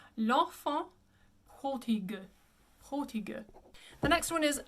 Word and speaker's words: L'Enfant prodigue: I often hear people say this one, l'enfant prodigue, and the correct pronunciation would be l'enfant, just two nasals, l'enfant prodigue, prodigue.